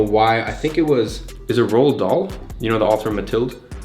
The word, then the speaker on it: Roald Dahl: I think is it Roald Dahl? You know the author Matilda? Yeah. Is that how you say it? Yeah, Roald Dahl.